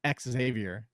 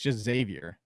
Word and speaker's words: Xavier: people call it xavier xavier no just it's x xavier which you're not supposed to because that's you're not supposed it's just xavier but anyway i just i know you hate